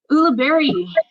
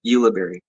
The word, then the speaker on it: Ulibarri: staff sergeant oola berry did i pronounce that right oh okay tell me how do you pronounce your last name because i'm i'm just keep messing it up no worries it's uh yuliberry darn it oh i